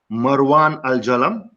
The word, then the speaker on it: Marwan Al Jalam: This episode features two national sportsmen of Qatar, Marwan Al Jalam. Is that right? Yes, Did I right.